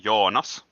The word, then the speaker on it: Jonas: Is your name pronounced or Junus or? In Finnish, my name is pronounced Jonas, but like everybody else has been pronouncing it, it's completely okay.